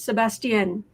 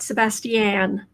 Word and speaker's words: Sebastian: an it's an N pretend you're French do a fake French accent um the the person